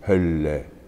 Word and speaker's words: Hölle: I mean, double consonants is another pronunciation problem. That wonderful line, macht mir den Himmel auf, und how does it go, und schließt die Hölle zu, Hölle. Your tongue has to linger on the double L.